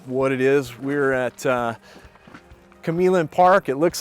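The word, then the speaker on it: Q'emlin Park: We're at Camillin Park. It looks like Quemlin Park. I think I've pronounced it wrong most of my life, but it is Camillin Park, and most people are aware it's a pretty big sizable park.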